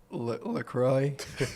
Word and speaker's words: Lacroix: Today we're here with Lacroix. I got it right, though. Yeah, I wanted to butcher it, but I got Lacroix. it right. Lacroix. Yeah. Okay, that's too The French. X is silent.